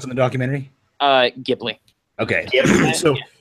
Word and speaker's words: Ghibli: So, what's the way they pronounce it in the documentary? Ghibli.